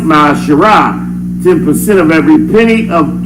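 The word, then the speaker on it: מעשר: and malachi 3 8-10 means tiff in the hebrew and it's pronounced my shara 10 of every penny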